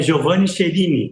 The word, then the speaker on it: Giovanni Cherini: Na verdade, só para corrigir, o meu nome é Giovanni Cherini, tá? Perdão. A pronúncia é igual escreve.